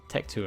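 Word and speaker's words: Tecteun: to him however you say her name um Tech 2 and that's how you say it I remember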